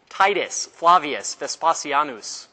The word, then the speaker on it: Titus Flavius Vespasianus: you don't repent guess who guess who's coming titus flavius vespasianus that's how you say his name the roman